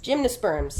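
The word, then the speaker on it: gymnosperms: first gimos sprs let me make sure I pronounce that right cuz I always get plant wrong gymnas sperms gymnos sperms you did it you got it yes got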